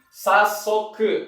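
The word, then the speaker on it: 早速: Dua-duanya adalah bacanya hayai, tapi dibaca menjadi sasoku.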